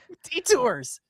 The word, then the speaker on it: Detours: Detours is the correct way to say it.